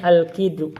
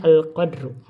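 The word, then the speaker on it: القِدْر: Bacanya al kidru. Tadi kemarin dibacanya al qadru.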